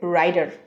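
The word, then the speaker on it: writer: পরের শব্দ হচ্ছে রাইটার এটা ফ্ল্যাপিং করলে উচ্চারণ হবে রাইডার রাইডার রাইডার আমরা এটা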